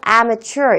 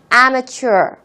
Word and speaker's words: amateur: amateur 이라고 발음합니다. 다시 한번 발음 같이 해볼게요. amateur.